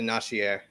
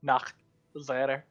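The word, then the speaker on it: Nachzehrer: See, I was gonna pronounce it Nashier. No, Nachsetter.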